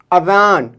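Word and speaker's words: اذان: ठीक, दूसरा यूज़ है इसका अज़ान, अलिफ दाल अलिफ नून, अज़ान।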